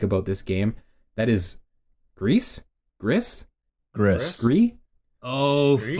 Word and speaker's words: Gris: That is Grease? Gris? Gris. Gris? Oh, Gris? fucking yes, yes, It's- yes. In And- Paris, it's pronounced Gris.